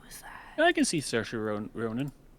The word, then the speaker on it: Saoirse: It's an Irish name, so it's definitely not how it sounds.